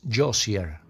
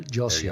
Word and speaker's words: Josier: The correct pronunciation is Josier. Daniel Josier.